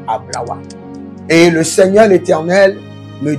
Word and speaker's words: Ablawa: C'est Ablawa, j'entends. C'est pas Ablavi. J'entends quelque chose comme Ablawa.